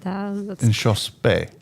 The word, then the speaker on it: Inchauspé: Her name is Jessie, and I don't know if I can pronounce her last name. She's French. So Inchauspé, how would you say it? Inchauspé.